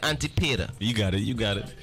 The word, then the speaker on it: Antipater: Antipater.